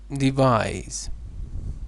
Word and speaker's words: devise: and this is device so this is z in pronunciation but when it is used as a noun it is SE the burglers devised a